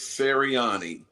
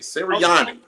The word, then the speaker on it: Sirianni: So you got to be able to understand, to be able to have that like little flavor on the end of your mouth, Roger, to be able to pronounce an Italian name.